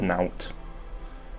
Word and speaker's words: naught: terms, Jutland's liberation is naught but a lawless invasion. You pronounce that word "naut." Once again, game. Defined Jutland's actions as an invasion. Like it's part of a matching pair of "out."